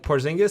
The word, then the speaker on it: Porzingis: Like Porzingis.